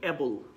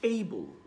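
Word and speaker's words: able: এটা হবে হচ্ছে লাক্সারি একই সাথে আমরা বলি এবল উচ্চারণটা হবে কিন্তু এইবল একটু খেয়াল করে দেখেন এইবল হবে উচ্চারণটা বিকজ আই বিলিভ আপনি দেখতে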